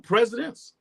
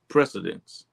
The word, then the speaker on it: precedents: Is this the new presidents? Precedents.